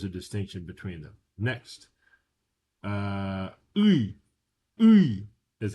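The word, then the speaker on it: ы: Next, uy, uy is how you pronounce this word.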